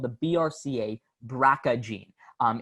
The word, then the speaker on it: BRCA: life but she has something called the brca braca gene um it's pronounced draca but it's brca so this gene